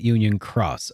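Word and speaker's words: Union χ: In this case, it is pronounced like cross. Okay. So it was key and now they're calling it Union Cross.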